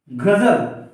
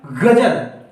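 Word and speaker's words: ग़ज़ल: ऐसे ही एक और शब्द देखते हैं जो कि उर्दू भाषा का है, गजल। अगर हम इसको ऐसे ही लिखते हैं तो ये हमारा हिंदी भाषा में माना जाएगा। और जो इसका उच्चारण होगा वो क्या होगा, गजल। इसको हम एकदम झनकार के रूप में नहीं बोल सकते।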